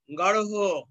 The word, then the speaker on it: গাঢ়: রূঢ়, রূঢ়, গাঢ়, অর্থাৎ আমরা বলেছি যে ঢয়ে শূন্য র উচ্চারণ হবে ডয়ে শূন্য র যোগ হ এর মাঝামাঝি ভঙ্গিমায়, কিন্তু লিখতে হবে কি ঢয়ে শূন্য র দিয়েই, হ্যাঁ রূঢ়, গাঢ়, নিগূঢ় এরকম উচ্চারিত হবে।